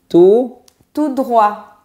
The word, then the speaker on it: tout droit: Donc ça finit en T et on ne le prononce pas.